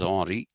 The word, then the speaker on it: Henri: painters, there's another Rousseau whose name is Henri, Henri, Henry. They pronounce it as Henri.